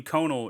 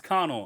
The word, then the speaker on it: Conal: let me finish this section first, and then we got Conal Cochran, which the first name Conal is weird. Conal. Connell. Connell. It's Connell.